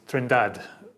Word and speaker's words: Trindade: You were saying to Dwayne, our sound engineer, before that your surname is Trindade. Is that how you pronounce it? Yes, that's how I pronounce it.